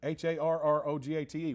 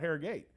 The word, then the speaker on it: Harrogate: like think of harrogate h-a-r-r-o-g-a-t-e we say harrogate not hair gate so i guess it's